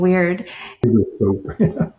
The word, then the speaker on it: wyrd: Yeah, I thought you were saying weird. That's, by the way, it's spelled WYRD, and it actually refers to an ancient spiritual perspective and not weirdness.